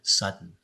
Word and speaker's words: Sutton: I'm honored today to be speaking to Ward Sutton. Am I pronouncing your last name right?